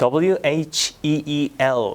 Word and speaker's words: wheel: 자동차의 바퀴, 휠이라고 읽죠. 이것도 WHEEL 이거예요. 근데 그렇게 하면 못 알아듣습니다. wheel 이렇게 하셔야 되는 거죠.